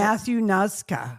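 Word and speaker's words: Matthew Noszka: How do you pronounce it? Matthew Nuska.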